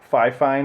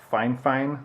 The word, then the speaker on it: Fifine: I know it says five fine on here but the company representative assured me that it's pronounced fine fine like fine twice they just don't have